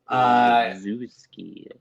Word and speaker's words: Olszewski: Olszewski. Yes, you got it. Spell Olszewski. Spell that for me.